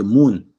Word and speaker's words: moun: You say moon, but you spell it with MOUN.